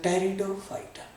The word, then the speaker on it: Pteridophyta: fighter brow your fighter and P is silent you will see the Teredo fighter alright so when we